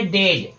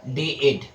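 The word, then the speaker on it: dead: तो फ्रेंड्स आपका जो सही है वो है डेड। और जो आपका गलत है वो है आपका डे एड। ठीक है? क्यों? क्योंकि इसमें जो इ जो ए है ना ए आपका हो जा रहा है साइलेंट लेटर ए है।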